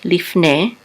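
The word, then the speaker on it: לִפְנֵי: The Shava is silent. This is Leaf. And this is a Nun with a Tzere and a Yud together we say Ne. Lifne, which means before.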